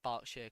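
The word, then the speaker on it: Berkshire: Yorkshire and barkshire uh barkshire I meant I'm not sure how you pronounce that party I pronounce it barkshire coming from the county itself and we have Norfolk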